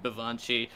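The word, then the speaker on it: baobhan sith: or the right right which is spelled like b-a-o-b-h-a-n vivancy uh which is in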